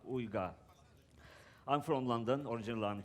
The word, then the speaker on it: Uygar: my name is olga it's a difficult turkish name most likely you won't even say it properly but it's uyga ooga i'm from london originally